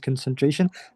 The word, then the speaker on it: concentration: Studies show that music also improves memory and concentration. There's no concentration at all. and concentration. Concent little little less emphasis on the first two syllables.